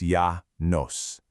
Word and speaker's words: Llanos: Stretching across central and western Venezuela and reaching way out into eastern Colombia, you'll find these vast tropical plains known as the Llanos, pronounced Yah Nos.